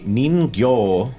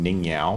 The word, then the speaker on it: Ningyo: city they went to the ningyo which is the proper pronunciation which i don't know why i kept saying ning yao because it's aussie um to their showroom